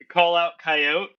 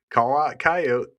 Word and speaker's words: Call Out Coyote: I'm I'm really hoping that you pronounce the title correctly. I'm waiting for it. Is it Is it Call Out Coyote? Uh, that's right. You got it.